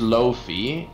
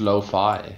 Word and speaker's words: lo-fi: Is it pronounced Lofi? I thought it was pronounced Lo-Fi. Yeah. Oh, yeah, no, it's Lofi in Dutch, but Lo-Fi in English, yeah.